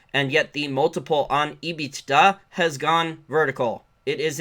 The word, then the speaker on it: EBITDA: So she was talking about the EBITDA multiple. Some people would prefer me to pronounce it EBITDA, but that would be saying B twice.